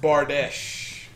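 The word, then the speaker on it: Bardiche: It's pronounced Bardesh.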